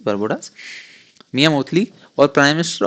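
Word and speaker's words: Barbados: और जो इसको चेयर किया है वो प्राइम मिनिस्टर ऑफ बारबोडास, बारबोडास शायद यही प्रोनाउंसिएशन रहेगी इसकी, बारबोडास, मियां मोतली।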